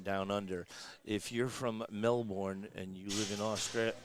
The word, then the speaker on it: Melbourne: If you're from Melbourne and you live in Australia, you say Melbourne. Melbourne, kind of like Yeah. B-I-N. Yeah. That's like Worcester, around here. Yeah, right. Right. So she hails from Melbourne, Australia.